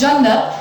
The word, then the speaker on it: Jannat: Janet, who actually pronounces her name as Jannat and is the Ethiopian ambassador.